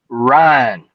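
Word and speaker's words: Ryne: It was pronounced Ryan. R Y N.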